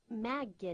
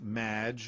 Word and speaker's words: Maggie: will be robots claude maggie not welcome to the show thanks amy however you have mispronounced my name it's madge which rhymes with badge uh as in duh